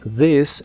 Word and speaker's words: this: que significan esta mañana la th de This es la versión que suena como una d vibrante this morning this morning